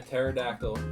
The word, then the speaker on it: pterodactyl: Why can't you hear a pterodactyl go to the bathroom? Why not? Because the P is silent.